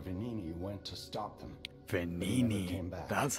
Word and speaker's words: Venini: Venini, that's how you say it.